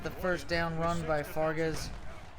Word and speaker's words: Fargas: F so ironically enough I'm pronouncing Fargas as Vargas so we go figure